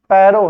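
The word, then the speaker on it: Porro: क्या है, पैरो, पारो नहीं है, पैरो है। याद कर लेंगे आप लोग, पारो ही हो गया। अब देख लेना बेटा, अच्छा पारो नहीं है, पोरो है इसका नाम है पोरो प्रिज्म।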